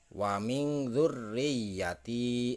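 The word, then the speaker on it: وَمِنْ ذُرِّيَّةِ: Jadi cara membacanya yang benar adalah wa min dzurriyyati, seperti itu.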